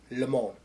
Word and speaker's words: Le Mans: I know it says Le Mans, but the proper way to say it is like if you're in France, Le Mans.